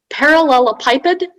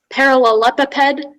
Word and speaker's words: parallelepiped: all the information yes so it can be pronounced parallelopiped parallelopipid parallelepiped or parallelepiped um it's a noun